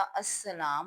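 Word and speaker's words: السلام: यहां पर बहुत सारे बच्चे जो हैं ये जो लाम है इसको अलिफ के बराबर नहीं लिखते और यह लाम साइलेंट है अस्सलाम में लेकिन यह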